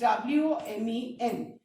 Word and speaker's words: women: Whereas जब इसका plural होगा तो that is WOMEN, और जब प्लूरल हो जाएगा तो हम इसको women बोलेंगे.